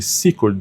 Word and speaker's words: Secord: Aliás, eu aprendi essa pronúncia hoje. Seord, escreve Secord, mas fala Secord.